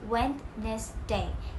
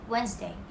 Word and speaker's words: Wednesday: of the week however malaysians often pronounce it as when this day instead of wednesday so here is the